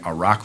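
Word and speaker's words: Arak: then there's plutonium Iran has a reactor the a rock reactor that's spelled a-r-a-k the the spent fuel rods of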